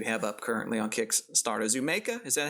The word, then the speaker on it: Zoomaka: But yeah, it's a word play on Zoomaker, so I think you can pronounce it a little bit as you want.